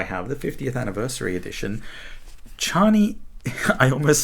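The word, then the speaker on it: Chani: all my heart but i will never pronounce her name cheney oh my gosh everyone i love that everyone just decided he was wrong you know every single media adaptation ever has just called her charney and not cheney anyway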